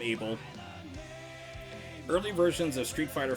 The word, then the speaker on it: Abel: street fighter four player abel or evil depending on however you want to pronounce it i call him abel early versions of street